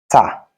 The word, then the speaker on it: tà: Sell, tà or ta. Sell, tà or ta. In sentence, is pronounced ta.